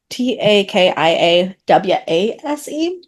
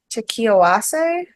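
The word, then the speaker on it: 炊き合わせ: I think it is pronounced Takia Weiss is Takiawase. I'm not sure Uh, how the second half of the word should go. um, all vowels in Japanese are pronounced. They because everything that they don't have like separate letters, they have sounds.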